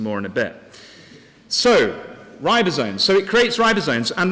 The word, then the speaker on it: ribosomes: how do you how do you say it ribosomes thank you for your help you might need to give me some more in a bit so ribosomes so it creates ribosomes and ribosomes interestingly are